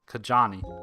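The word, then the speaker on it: Kajaani: Kajani.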